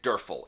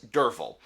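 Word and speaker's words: Derfel: name is spelled d-e-r-f-e-l if i had not been listening to it i would have pronounced it durfl it's durval just so much of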